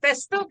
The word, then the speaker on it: Pestuca: And Pestuca, I said it right.